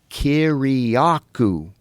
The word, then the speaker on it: Kiriakou: And I go, Kiriakou, just like it's spelled.